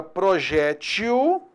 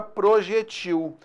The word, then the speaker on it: projétil: caso existe a palavra projétil e existe a palavra projéctil as duas pronúncias estão corretas e olha só que